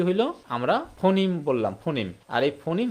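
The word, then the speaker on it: phoneme: এটা যদি আমরা একসাথে লেখি ফোন মি। এটার উচ্চারণ কি ফোন মি হবে? তখন এর উচ্চারণটা কি হয়ে যায়? এটা আমেরিকান উচ্চারণ হয়ে যায় ফৌনিমিম বলতে হবে ফৌনিম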